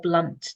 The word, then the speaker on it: Blount: It's either Blount or Blunt depending on which branch of the family you are.